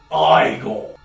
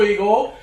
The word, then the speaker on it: Igor: My name is pronounced Igor.